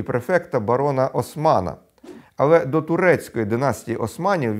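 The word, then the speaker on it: Haussmann: сенатора і префекта барона Османа. Але до турецької династії Османів він не мав жодного стосунку, адже був німецького походження. Просто прізвище Хаусман французькою читається як Осман.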